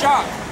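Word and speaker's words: שַׂק: The word sack is a Hebrew word. It's actually pronounced shock.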